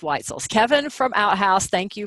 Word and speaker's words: Wetzel: shout-out to Kevin Wetzel I always want to say actually it's white so sorry I want to say it's white soul or what soul rhymes with pretzel and that's not it's white souls Kevin from outhouse thank